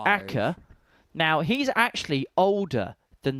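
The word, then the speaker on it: Akaa: Akka. Now, he's actually older than the town. So Akka, or in Finnish it's pronounced Akas, is a town and municipality in 100.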